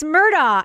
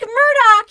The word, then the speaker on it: Murdaugh: prominent South Carolina lawyer Alex murd and I I screamed at the TV that's heads one of a national newscast Alec Murdoch you piece of Lester hole like you should know that and I was like